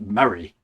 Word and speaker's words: Moray: Whereas the county I live in is spelt Moray, but it's pronounced Murray for reasons that will never ever be explained.